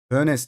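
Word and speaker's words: Hoeneß: Hönes diye okunuyor abi. Ben ne dedim? Hönes mi? Hönep mi dedim?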